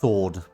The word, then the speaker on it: sword: how is it pronounced sword ward it's basically pronounced as if the w isn't there okay yeah yeah that's